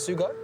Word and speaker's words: Sugo: two some aggressive kerbs here soon and you pronounce that sue got sue go right Japan so the last Japan